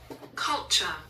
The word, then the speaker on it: culture: 입을 크게 벌려서 컬을 발음해 봐요.